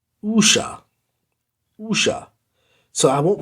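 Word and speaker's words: wuxia: and so this waxia thing which is actually pronounced usha usha so i won't pronounce it luxia anymore i'm going to say usha the usher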